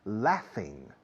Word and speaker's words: laugh: Muchos españoles lo pronunciáis mal y suena más a amar o amor que a reír. He is laughing. No, laughing suena amando, está amando. No, está riéndose. He's laughing.